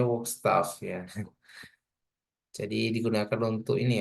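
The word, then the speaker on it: Werkzeug: ini merupakan ini ya cara bacanya gimana ya staff Oh bacanya work staff ya jadi digunakan untuk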